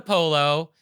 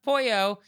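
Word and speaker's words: pollo: So, I'm like, I order the polo and then you're like, "Oh, it's pronounced pouyo."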